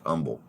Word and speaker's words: Humble: was based out of Umble Texas um spelled humble but you know it's pronounced Umble and so I would